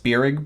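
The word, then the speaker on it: Spierig: uh the directors are i think it's pronounced spirig brothers spirit brothers spirit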